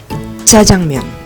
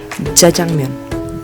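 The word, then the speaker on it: 짜장면: Ini dia, jajangmyeon. Jadi yang silabel pertama kita harus tekan karena dia itu double. Jadi jajangmyeon, jajangmyeon.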